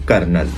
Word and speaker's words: colonel: में इस लफ्ज़ को, इसके स्पेलिंग कुछ और हैं, लेकिन इसकी जब हम प्रोनाउंसिएशन करेंगे तो इसको हम पढ़ेंगे कर्नल।